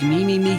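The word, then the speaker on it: Mimimi Games: even for companies like MIM me me games yes that's how you pronounce their name they earlier this year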